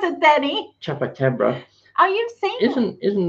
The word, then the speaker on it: chupacabra: It says chukabab. I can't even pronounce it, Danny. Chupacabra.